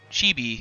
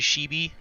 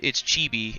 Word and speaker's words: chibi: cartoon like anime characters chibi it's uh i i pronounce it shebi because i'm stupid but it's chibi it's the art style